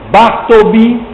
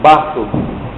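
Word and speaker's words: Bartleby: dos maiores contos do século XX que é bartobi o escrivão eh bom eu não tenho nem vou escrever aqui mas nem todo mundo vai escreve assim eu pronuncio bato né b a r t l e by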